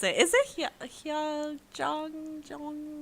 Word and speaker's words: Hyojong: pronounce it. Is it Hyojong? Hyojong.